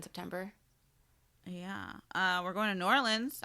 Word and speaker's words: New Orleans: yeah we're going to New Orleans and June yeah pronounced nollans okay I'm sorry sorry